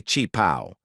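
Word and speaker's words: qipao: We call it a chong sam, but they say chip pow. It's spelled q i- p a.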